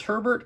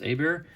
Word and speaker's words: Herbert: my son Justin Herbert I'm not sure if it's Herbert or a bear because I think the French pronunciation is Abeer if he happens to be from Louisiana I don't know where he's from but in Louisiana they pronounce that a bear it doesn't say anyways